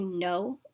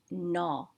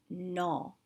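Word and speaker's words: नौ: it correctly it's pronounced no sounding more like the word na so it's pronounced no let's do it again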